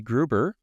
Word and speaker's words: Gruber: by a very special guest Mr uh Jesse Gruber that that's correct Jesse last name pronounced that right I just correct Jessie grber